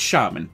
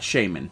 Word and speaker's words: Shaman: want to pronounce it its shaman let's be clear here it's shaman not Shaymin but pronounce it how